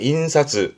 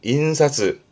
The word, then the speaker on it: 印刷: 발음은 인사즈, 인사즈.